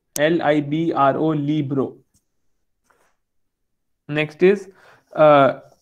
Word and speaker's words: libro: to hindi than english our word yes i'll pronounce uh libro again for you it's libro l i b r o libro next is uh n english me and